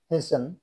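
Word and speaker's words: hasten: টি silent, H এস টি ই এন, হেসেন, তাড়াতাড়ি। এল আই এস টি ই এন, লিসেন, শোনা। ও এফ টি ই N, often, fry. এস ও এফ টি ই এন, সফেন, নরম করা।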